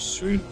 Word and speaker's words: Sun: uh hurt your ears the proper pronunciation for his name is soon but uh we'll say some for the duration of the stream nice Camp here from